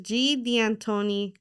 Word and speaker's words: Deantoni: correct pronunciation is so the correct pronunciation is G de Antono.